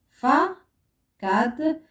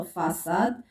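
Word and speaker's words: façade: هنا فا كاد، لا يمكن نطق فاكاد سنطق فاساد.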